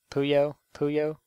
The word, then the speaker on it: Puyo Puyo: p who how do you say this cow puyo puyo yeah it's buya puyo puyo tetris this is